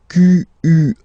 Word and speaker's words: quelle: And then the feminine form is written like that, Q-U-E-L-L-E, but it's pronounced like the masculine form. Quelle at the masculine, quelle at the feminine. Okay, so it's basically same pronunciation.